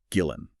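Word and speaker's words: Gullane: So Gordon, after remarrying, he moved to Gillane, which is a pleasant town in East Lothian, and he insists it must be pronounced Gillen.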